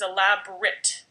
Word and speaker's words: elaborate: but it sounds different the adjective version is a lab Brit with the Brit sent at the end elaborate is the verb